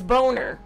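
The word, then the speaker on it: Boehner: name it's her last name is boner did you not boner b-o-e-h-n-e-r it's a German last name boner yeah my dad's uh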